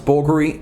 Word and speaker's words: Bulgari: Greek for an Italian a jeweler so it's pronounced vulgar E and the logo itself is BV L of